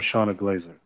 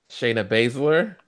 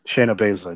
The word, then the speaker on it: Shayna Baszler: I think I'm becoming a fan of Shauna Glazer or Blazer, however the hell you say her name. Shayna Baszler. Shayna Baszler. There you go. I don't even like her. I've been saying her name wrong for years.